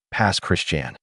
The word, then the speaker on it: Pass Christian: Number five, Biloxi adjacent, Pass Christian, Mississippi. Mississippi earns another slot, and this one surprises people every time. Pass Christian, locals pronounce it Pass Christian, sits on the Mississippi Sound between Gulfport and Bay Saint Louis.